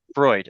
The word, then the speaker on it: Freud: Freud.